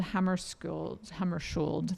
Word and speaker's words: Hammarskjöld: there as a free giveaway, and Who Killed Hammarskjöld, that's how we say his name, yes, which